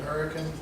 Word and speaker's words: Hurricane: West Virginia pronounce it Hurricane, but Hurricane Film Partners is the company.